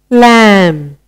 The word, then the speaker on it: lamb: Lamb.